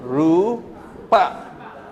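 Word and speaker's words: rūpa: Rupa.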